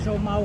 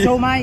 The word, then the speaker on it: siomay: Showo kami kasi favorite ni Jeff yung Showo eh. Ay siomay. Shomay. Shomay. Wrong wrong pronunciation. Shomay.